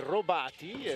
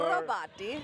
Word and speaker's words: Robati: And it sounds like an Italian last name. We say Robati, and so... Should I say it like that better? Let's try it out, Kelsey. Let me see your... Robati.